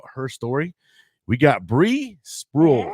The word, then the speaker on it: Sprual: We got Bree Sprual, right? Is it Sprual? Yes. Yeah, you said it right.